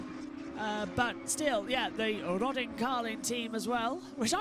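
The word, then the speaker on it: Rodin Carlin: Yeah, in the Roden Carlin as well or Roden Carlin. I pronounce I've been told Roden Carlin because they're northerners as well which is what I am technically but accent sometimes shows it.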